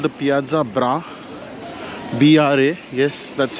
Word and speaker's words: Piazza Bra: the main Piazza of Verona it's called The Piazza bra yes that's how it is pronounced so you can go inside the arena